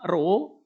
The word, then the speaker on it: rho: Rumus ya, Rho ya, seperti P ini bacanya Rho sama dengan M per V.